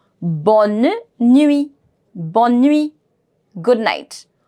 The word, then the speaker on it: bonne: So together, bonne, bonne, bonne, bonne. I will be pronouncing it till N.